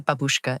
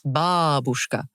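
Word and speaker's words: бабушка: And she said it didn't matter that Babushka actually means grandmother in Russian and that she was pronouncing it wrongly because it shouldn't be Babushka, it's Babushka.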